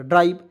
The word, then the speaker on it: drive: ठीक है, क्योंकि अंतिम में RI, देखिए IVE आएगा तो इसको उच्चारण हो जाएगा आइव के रूप में, ईव के रूप में नहीं, आइव के रूप में।